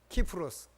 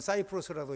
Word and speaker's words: 키프로스: 그리고는 그 마가를 데리고 바나바가 자기 고향 구브로, 키프로스, 어떤 사람은 사이프러스라도 있고 그런데 나는 키프로스가 있는 게 맞다고 봐.